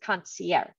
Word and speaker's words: concierge: pronounce it that way Americans use the soft G sound concert I don't know I pronounce it concierge all right so as